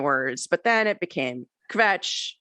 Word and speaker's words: kvetch: but then it became kvetch which is harder to say because people say covetch um make it two syllables um and you really